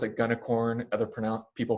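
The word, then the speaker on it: Gunicorn: pronounced i pronounce it gunnicorn other pronoun people pronounce it g unicorn or unicorn it stands for the g stands for green and the unicorn is unicorn because that is what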